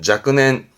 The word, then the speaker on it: 若年: 쓰냐 그러면 예를 들어서 약년 썼네요 발음은 자넨 자입니다 자넨 자넨이라는 양년이 뭐냐면은이